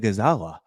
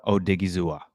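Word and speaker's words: Odighizuwa: yeah Chris Collinsworth USA oawa no you said it wrong all night they butchered his name multiple times last night oosa o digua thank you very much we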